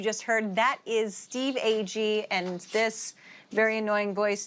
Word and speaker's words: Agee: And I'm joined every episode by my co-hosts, Jennifer Holland and Steve Agee, who some people say Steve Agee. Wrong pronunciation.